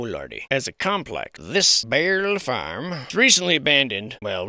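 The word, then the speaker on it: Beierle: Barrel Farm. Barrel Farm. You pronounce it. You do it. B-E-I-E-R-L-E. Barrel Farm. Barely a farm.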